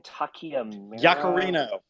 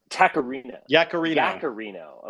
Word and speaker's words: Yaccarino: How do you pronounce her name again? Takiamura? Yacarino. Yaccarino.